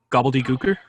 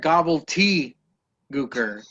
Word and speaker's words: gobbledygooker: pronounce gobbly gooker please gobbledygooker he said gobble tea gooker that bothered the out of me when i was listening